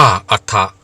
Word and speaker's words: อัตถะ: ใหม่ ว่า อัถะ และ ให้ ออก เสียง เรียก ว่า อัถะ ท่าน จึง ใช้ ชื่อ